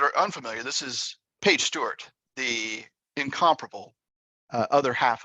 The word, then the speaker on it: Stuart: Tick Tock it's page Stewart underscore Stuart is spelled that way not s-t-e okay s-t-u-a-r-t uh follow her as